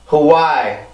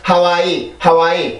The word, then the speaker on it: Hawaii: 그래서 이 발음을 해줄 때는 와이 이렇게 있는 게 아니라 Hawaii 이렇게 발음이 됩니다. 알겠죠? 다시 한번 Hawaii. 다시 한번 Hawaii. 이렇게 발음을 해주세요. 절대 하와이 나 하와이 갈 거야